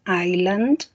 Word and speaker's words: island: island es una isla la s no se pronuncia island y él es montaña